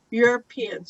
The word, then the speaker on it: Europeans: your yeah yeah so think about Europeans it might be an easier way to remember how to say it correctly Europeans okay yeah your opinion okay very good cool dip